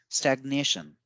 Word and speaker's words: stagnation: So as we see in stagnate, we give more stress on the first A as highlighted in red, and in stagnation, we give more stress on the second A as highlighted. So when the word changes from verb to noun form, the intonation also changes.